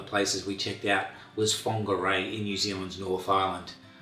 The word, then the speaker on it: Whangarei: one of the places we checked out was fongarei in new zealand's north island i hope you enjoyed this video as it's pronounced is quiet and laid back its focal